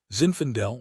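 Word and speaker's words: Zinfandel: Zinfendel rhymes with infidel sort of and that's how Hayden fresh back from Afghanistan makes me feel.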